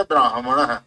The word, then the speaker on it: ब्राह्मणः: ब्राह्मणः न भवति, हकारः पूर्वम् अस्ति, अतः ब्राह्मणः। ब्राह्मणः इति, ब्राह्मण नहीं, ब्रह्माजी, ब्रह्मा नहीं, ब्रह्मा, ब्रह्मा, हकारः पूर्वं भवति न।